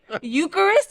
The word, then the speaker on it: Eucharist: Eucharist.